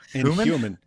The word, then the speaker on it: human: No, you say uh you say it with a silent H. I don't think the H is supposed to be silent. Yeah, human. You say it you say like like Donald Trump says huge.